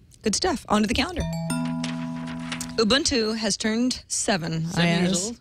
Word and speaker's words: Ubuntu: say that right I said it right there Ubuntu Ubuntu took me seven years to get that right